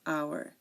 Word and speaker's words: hour: chef chef okay so there are a few words that start with silent h like and hair honest air honest honor and hour so again um these are words that start with a silent h air honest our and honor okay so in American